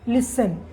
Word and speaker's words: listen: इसको छोड़िए, इस वर्ड को देखिए, LISTEN, क्या दिख रहा है आपको, लिसन। लिसन का स्पेलिंग तो ये होता है ना, LISTN। तो टी से तो ट होता है, बट यहाँ पे टी का साउंड नहीं हो रहा है, लिसन पढ़ रहे हैं, ठीक है।